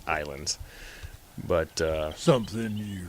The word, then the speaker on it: Ylands: to kind of playing Ylands. Or, I'm sorry, I keep calling it Ylands because that's how they spell it. It's pronounced Islands.